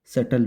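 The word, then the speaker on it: subtle: Caring in हिज ओन सटल वे। इसे सटल पढ़ते हैं सब, इसमें भी साइलेंट है और बहुत जल्दी पढ़ा जाता है सटल, जितना जल्दी हो सके सटल।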